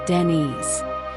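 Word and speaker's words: Dinis: King Dennis pronounced Denise simply renamed them the Order of Christ in 1319.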